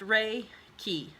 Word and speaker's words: Reiki: welcome and introduction section Reiki is pronounced ray ki ra y ke y